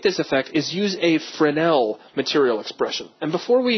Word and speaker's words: Fresnel: French is uh that it's actually spelled like Fresno, but don't say it that way.